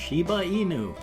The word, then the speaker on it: Shiba Inu: inu is actually pronounced shiba inu so yay just like it's spelled isn't that weird so